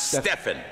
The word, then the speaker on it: Stephen: holy ghost all right they chose stephen or as some pronounce stefan a man full of